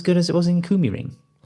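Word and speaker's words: KymiRing: had uh Finn Finland, you know, and the Kumi ring as um it's supposed to be pronounced was lot softer stuff.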